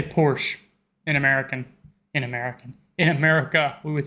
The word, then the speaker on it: Porsche: So there's like this short E sound in the end. Porsche.